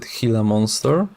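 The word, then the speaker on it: Gila monster: I believe she pronounced it hila monster, the golad frogs,amus, iguanas, mandrils, and two types of lemurs and the chimpanzees.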